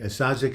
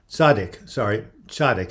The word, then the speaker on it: Tzaddik: Yes, I love your name, and Sadzik is a wonderful... Tzaddik is the way you pronounce it.